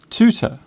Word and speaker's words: tutor: In American English, the hard T is often used in most words beginning with TU. Words such as tube, tune, tutor, tuber are all pronounced with the hard T.